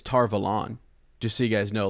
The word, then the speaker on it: Tar Valon: never brought this up um we often say tar vallen and i think it's tar velon just so you guys know like that's how